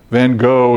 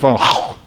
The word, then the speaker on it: van Gogh: And my Dutch friend said, "Oh, Vincent van Gogh." And the host said, no, it's Vincent van Gogh. And they refused to give him credit for his Dutch pronunciation of the Dutch artist.